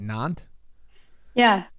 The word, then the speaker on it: Nantes: Nantes? Yeah. Nantes.